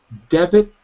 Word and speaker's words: debit: different words two words the debit has two syllables like that in the